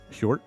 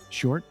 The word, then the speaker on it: Hjort: You just pronounced Hjort. How did you say that? Hjort. Short? Okay. Hjort. Hjort. That's my Scandinavian heritage coming through.